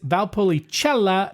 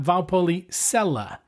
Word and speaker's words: Valpolicella: I or an E, the C is pronounced ch like in Czech or cheese. So the word is valpolichella, not valpola.